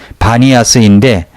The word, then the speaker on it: 바니아스: 가이사랴 빌립보의 현지 이름이 바니아스인데 판신의 피 발음을 못하는 아랍인들이 비로 잘못 발음하여 불려지게 된 것이라고 말합니다.